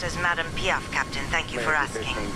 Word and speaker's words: Madame Piaf: My name is pronounced as Madame Piaf, Captain. Thank you for asking. Madame Piaf.